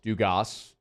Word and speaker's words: Dugas: be gavin dugas yes they pronounced the s dugas it's been long enough